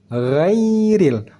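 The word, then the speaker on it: غير: ya yiyu ya yiyu saat kita baca Gai ghairil Gin tetap tebal saat masuk ke dalam Ya Sukun yanya sudah terdengar Ti yanya dibaca tipis ghairil Begitu juga dengan RI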